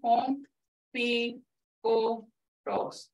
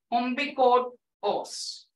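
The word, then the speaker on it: ombigos: So I broke it down, om, bi, go, os. B, like in B, z, om, bi, go, os.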